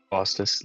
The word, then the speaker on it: Faustus: Faustus Llewellyn.